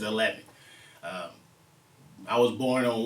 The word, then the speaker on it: Hellheaven: it's spelled it's called eleven projections that's my new uh production company but it's spelled h-e-l-l-h-e-a-v-e-n so as hell heaven but i pronounce it eleven uh i was born